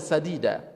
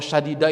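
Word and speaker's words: سديدا: Bukan pakai shin, Mbak. Kalau syadida itu keras. Kalau bacanya qawlan syadida, ucapan-ucapan yang keras. Pakainya sin. Sin kecil.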